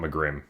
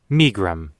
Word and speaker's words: Megrim: I want McGrim. I always said Megrim when I was a kid.